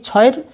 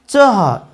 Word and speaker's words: ছ: আসলে এই ছয়ের সঠিক উচ্চারণ হওয়া উচিত চহ চহ, কিন্তু বাংলায় আমরা উচ্চারণ করি ছ।